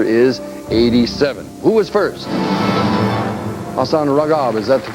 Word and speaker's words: Hassan Ragab: Hassan Ragab, is that the correct pronunciation, Hassan?